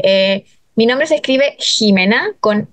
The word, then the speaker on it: Ximena: mi nombre se escribe Jimena con x nosotros lo pronunciamos en Chile como si fuera una J Pero hay otros lugares